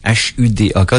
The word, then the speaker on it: Hudak: H-U-D-A-K. Donc, je devrais dire Michael Hudak. Ça serait la bonne façon de prononcer. Je fais pas trop tout le temps mes H aspirés en anglais.